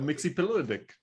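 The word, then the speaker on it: Mxyzptlk: Mixie Pilodic.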